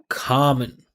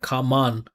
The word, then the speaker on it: common: positive positive modern modern common, right? Not common. Again, same thing. It's unstressed there. And it finishes with the N. So, it's a salabic consonant.